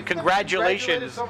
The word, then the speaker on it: congratulations: t or a d congratulations it sounds like congrat people say congrat but you say congratulations like a d it doesn't always sound like a d congratulations it's a g even how do you say it say it congratulations you see it's a g congratulations it's a g it's not a t or a d it's a g c